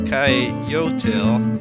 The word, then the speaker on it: coyotl: The Aztecs called coyotes coyotl, if I'm pronouncing that right, and that was not only